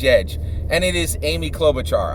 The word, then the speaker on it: Klobuchar: and it is Amy Klobuchar I know Amy clever Charles last name is spelled with a k it's just a mnemonic I used thanks for your patience